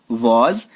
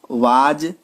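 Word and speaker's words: was: दोस्तों कुछ लोग इसको वाज या वेयर बोलते हैं, वो गलत उच्चारण है। वो एक्चुअली बचपन में हम लोग सीखते थे, कभी कभार यूज कर लेते थे, बट इसकी जो रियल जो उच्चारण है, एग्जैक्ट जो प्रोनाउंसिएशन है, वो ये है वॉज, और इसको वर, वर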